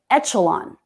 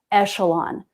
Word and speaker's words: echelon: higher echelon of party so he said echelon with the ch sound also a good guess also not the way that word is pronounced so that word only has one pronunciation listed in the dictionary and it's echelon echelon if you're unfamiliar with